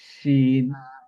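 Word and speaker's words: ش: পরের লেটার কি হচ্ছে শিন শিন originate when the centre of the tongue touches the upper palette জিহ্বার মধ্যখানটা তার বরাবর উপরে তালুর সাথে লাগিয়ে আমরা প্রোনাউন্স করব শিন শিন ওয়াশামসি ওয়াশামসিহা সাসি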